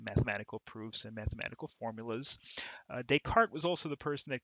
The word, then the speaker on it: Descartes: first we have Descartes Descartes with a silent yes at the end because I guess he was French I suppose and his notion